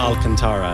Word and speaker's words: Alcantara: That's- Alcantara, yeah. I'm probably mispronouncing that.